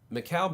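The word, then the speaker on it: Mikal: was there a rookie I remember him now McHale bridges Mikkel bridges as the this the pronunciation key basketball reference not calm has here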